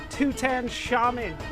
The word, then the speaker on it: Tutan Shaman: Next up is an enemy from Fossil Valley that I was mispronouncing when we started, but thanks to some help I have concluded is pronounced Tutan Shaman.